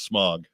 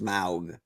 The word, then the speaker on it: Smaug: I left you here with smog. I think it's actually pronounced Smaug.